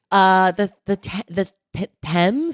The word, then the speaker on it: Thames: The Thames, is that how you say it?